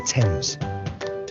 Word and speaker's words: Thames: to start with our great river is the thames greenwich leicester square borough one of the best